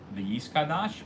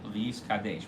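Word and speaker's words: וְיִתְקַדֵּשׁ: Hebrew, and so therefore the Daled should be pronounced in both of them with a tzereh, the A sound, the two dots underneath. Okay? And you shouldn't pronounce it with a shva or a patach.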